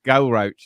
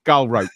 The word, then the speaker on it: Galrauch: I'm fully aware that it's definitely a ch sound because it was written by English people for an English- speakaking audience.